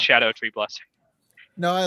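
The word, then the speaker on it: Scadutree: s calling them uh sco tree fragments because it's spelled like that but it's Old English it it they're it's pronounced Shadow tree blessing no I like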